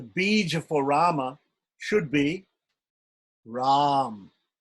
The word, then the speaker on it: Ram: So for instance, we have the word Rama. We have the name Rama. So the bija for Rama should be Ram. R long A with the Anushwar, Ram.